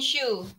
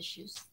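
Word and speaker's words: Schuh: Actually, you can find this in Shoe. S-C-H-U-H. Actually, I pronounce H is H, but H here in Ireland, so H.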